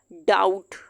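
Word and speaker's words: doubt: बी यहाँ पे silent हो जाएगा। डाउट, डाउट।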